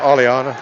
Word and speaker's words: Aliana: Oh, Aliana, like the singer.